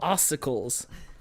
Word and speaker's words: ossicles: Like popsicles, but ossicles.